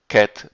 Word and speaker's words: ket: notation of this sort here and which is pronounced ket sy is common notation for vectors in quantum